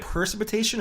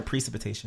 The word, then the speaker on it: precipitation: say it is it percipitation or precipitation precipitation free pre it's precipitation so you missing around